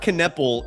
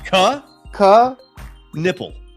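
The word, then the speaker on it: Knueppel: It's not Kneppel. It's. Think of it as two syllables. Ka. Repeat after me. Ka. Nipple. Nipple. So not ka areola, but ka nipple. Ka nipple. There you go.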